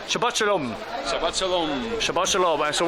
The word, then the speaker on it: Shabbat Shalom: Shabbat Shalom tonight. That's how you say it. Shabbat Shalom.